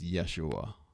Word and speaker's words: Yeshua: So Yeshua was his proper name. Yeshua Uh yeah, there's different ways of kind of pronouncing the end of it, but Yeshua Yeshua.